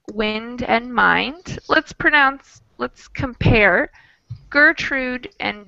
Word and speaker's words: Gertrude: So we have GER in both, but one is a soft G, German. We call that a soft G. And the other is a hard G, Gertrude.